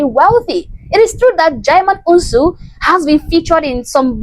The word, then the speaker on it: Djimon Hounsou: And neither can I pronounce it. His name is Djimon Hounsou.